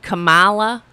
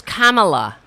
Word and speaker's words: Kamala: What does he call it? Kamala? Oh, yeah, that was great. Her name is Kamala.